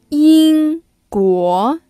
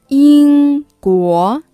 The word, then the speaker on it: 英国: 英国 England, for example 英国 When you wanna say 英国 Think about how we pronounce England 英国 Now read after me 英国 Now listen again 英国英国英国英国德国 Can you guess?